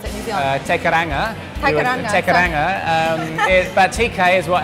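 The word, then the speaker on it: Te Kairanga: Starting off with TK, or how do you properly pronounce it in New Zealand? Tekaranga.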